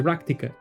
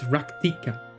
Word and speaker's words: Rak'tika: It's It's weird to to do the actual pronunciation. It's ractikica. It's It sounds so wrong. I don't know. The ractica. Ractica just sounds right, but it's ractika.